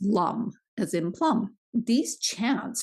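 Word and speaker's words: LAM: one by one is spelled l a m but it's actually pronounced Lum as imp Plum these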